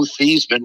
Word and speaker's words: Theismann: And he ultimately, I called my dad, and I said, "Dad, how do I pronounce my last name?" And he explained it was Theismann. I told Roger that it was, and he said, "There's a trophy out there called the Heisman Trophy."